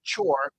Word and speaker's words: chore: Chore, chore, and chore, choir. So chore, it's a long O plus R, chore, and choir.